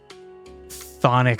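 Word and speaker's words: chthonic: just it is just you just don't pronounce the CH thonic Sonic oh my God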